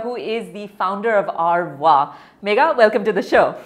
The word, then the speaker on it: Our Voix: It's Our Voix. It's Our Voix. It's correct. It's Our Voix. I pronounced it correctly?